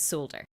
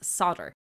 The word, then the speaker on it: solder: specifically why let's say in Ireland and the UK we pronounce it with the L and the Americans pronounce it as solder the original word did